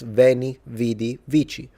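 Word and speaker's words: veni, vidi, vici: classical, because of course, if you read it in ecclesiastical, it's veni vidi vichi. perfectly fine as a pronunciation, not how the Romans would pronounce it.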